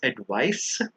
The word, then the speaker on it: advice: the next pair is advice versus advise so the one with the c actually has the S sound advice but the one with the S actually has the z sound like adise the one with the